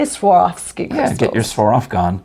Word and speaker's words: Swarovski: It sounds like you're stumbling over it, but that's Swarovski. Swarovski.